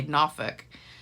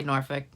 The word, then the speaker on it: Norfolk: You say it without the L, and you kind of don't really say the R either. A lot of people say Norfolk, and some people say Norfolk, but it just cracked